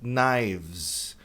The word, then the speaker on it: knives: Knives. Esse E, não é, nenhum dos E's aqui é pronunciado, nem da faca singular, nem do plural.